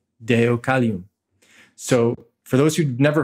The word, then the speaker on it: Deucalion: And he's in Sanskrit, that would be Deva Kala Yavana, but pronounced Deucalion. So for those who've never heard of Deucalion, I'll spell it for you.